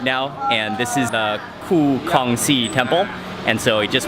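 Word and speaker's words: Khoo Kongsi: Ku Kongxi.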